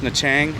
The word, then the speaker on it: Nha Trang: I think this is gonna be the last NHA Trang vlog. So thanks for watching the NHA Trang series. It is pronounced NHA Trang.